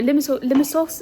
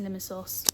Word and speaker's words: Limassol: I didn't do any reading yesterday because obviously we went to Limassol, which I've been pronouncing wrong by the way. It's Limassol, not Limassol, but it's Limassol, and it was really